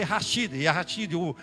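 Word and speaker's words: יחיד: Yashid, você lê Rashid, ali tem a pronúncia de R.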